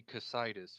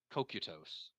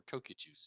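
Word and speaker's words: Cocytus: So we may say Casitas for the bottom region of hell, but it should be Kokutos if we were or Kokutus if we were being In very scientific.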